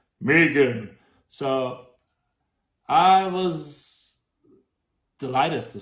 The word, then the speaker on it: M3GAN: The pink symbol is actually 3, so M3GAN, but it's pronounced as Megan.